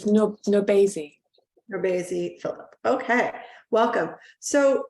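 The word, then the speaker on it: NourbeSe: How do you pronounce her name? I don't know that writer. It's Nobesi.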